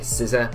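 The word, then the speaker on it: Scizor: zygarde is gonna be so scissor or size' however you want to pronounce it the ability technician it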